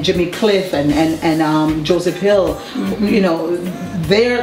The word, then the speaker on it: Uwe: our honor to have him his name is U Banton which is spelled UWE and last name Banton and he